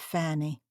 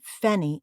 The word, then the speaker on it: Fanny: aspirate Harry she said if you call me fenny again it's war and pinching my name's Fanny and yours is Harry